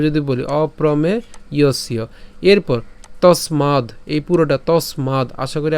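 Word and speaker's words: তস্মাদ্: এগুলো যদিও ভেঙেছি কিন্তু উচ্চারণ করার সময় একসাথে উচ্চারণ করবেন তসমাদ ইউয়স ঠিক আছে তসমাদ ইউস এরপরে এখানে কি আছে ব আছে এটা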